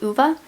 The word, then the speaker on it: Ove: that i don't own is a man called uva i listened to this one on audio and that's how they pronounce the name on audio it's spelled ove